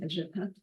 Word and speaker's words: El Gabha: For simplicity in the presentation, I'll refer to the front, El Gabha, in the local pronunciation, El Gabha.